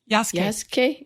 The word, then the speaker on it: Yasuke: How do you pronounce the samurai's name, Kat? Yasuke.